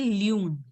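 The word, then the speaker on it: lune: Loon. L. Loon. Loon. Loon. It should be pronounced as loon.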